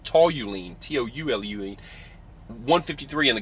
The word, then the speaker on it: toluene: bad stuff too and toluene which the guy mispronounced he called it tally lean it's tall you lean tou lue 153 on